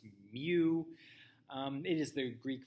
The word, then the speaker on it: mu: mu here it is it's uh written mu and pronounced me um it is the